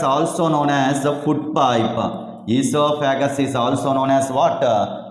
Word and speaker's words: esophagus: Esophagus is also known as what? Food pipe. In esophagus, O is the silent letter. That's why we pronounce like esophagus.